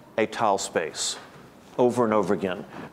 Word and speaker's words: étale: And he says étal space over and over again.